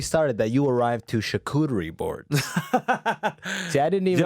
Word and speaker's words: charcuterie: you're not even saying it right. Okay, There you go. You're saying charcuterie. What the fuck is that? All How right? do you say it right? It's charcuterie.